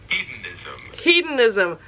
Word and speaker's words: hedonism: Hedonism.